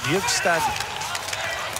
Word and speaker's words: Bjugstad: Nick Bjugstad. Det är väl den rätta amerikanska uttalet av namnet.